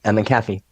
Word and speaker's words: McAfee: McAfee.